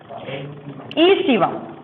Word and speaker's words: aestivum: Scientific name is Triticum aestivum. A is silent.